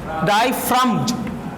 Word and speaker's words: diaphragm: iris is a dark muscular डाइफ्रम्ज, PHRAGM, डाइफ्रम, ji silent करोगे, डाइफ्रम, PHRAM, ठीक है, जी साइलेंट कर दो तो डाइफ्रम हो गया ना, DIAPHRAGM, डाइफ्रम, दैट कंट्रोल्स,